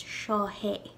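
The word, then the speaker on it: seo é: which it is but i've noticed that when people say that there's sort of an h sound placed in between the shaw and the a for some reason and it's shahe and if it's a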